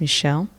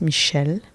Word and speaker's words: Michele: so like I said my name is Michelle uh in French it's Michelle um and I am